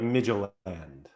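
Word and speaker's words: Midtjylland: Well, you don't pronounce either L, right? Well, it's like Midgeland.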